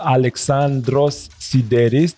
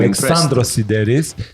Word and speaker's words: Alexandros Sideris: Alexandros Sideris. Did I pronounce that right? Very good, Bogdan. Okay, I'm Alexandros Sideris.